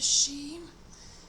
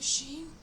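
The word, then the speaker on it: sidhe: sacred glyph of the sheen and and it's um the she is it's spelled s-i-d-h-e and i believe it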